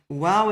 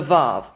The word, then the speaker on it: waw: The basic difference between v and w is that v is a fricative consonant and w is a semi-vowel. So if we can find evidence that the wow is a semi-vowel, it shows the softer w pronunciation and not the hard v pronunciation.